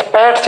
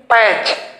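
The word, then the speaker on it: patch: एच ओ आया आगे, पी ए टी सी एच पैट्स नहीं, पैच।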